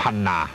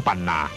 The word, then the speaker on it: ปันนา: เรา คำ ว่า 10 ปันนา มา จาก คำ ว่า 12 พันนา เพราะ ชาว ไต รื้อ จะ ออก เสียง พ่อ พาน เป็น ปอ ปลา เช่น เดียว กับ ชาว เหนือ ใน เมือง ไทย ตำนาน ไตลื้อ กล่าว ว่า